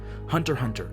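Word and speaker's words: Hunter × Hunter: basic desires of imagination hunter hunter and yes the x in the title is silent it scratches every adventure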